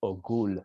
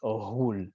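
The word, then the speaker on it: אוגול: So if you read it, you might say Ogul, but it's not a G, it's Ohul with like a GH. It's almost like a rolling R.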